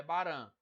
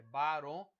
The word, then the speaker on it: Barão: feminino de aldeão aldeão e Barão não é Baran é Baron mesa sufixo e se